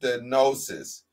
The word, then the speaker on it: stenosis: The term stenosis, pronounced stenosis, is defined as a tightening or narrowing in the diameter of a lumen or opening.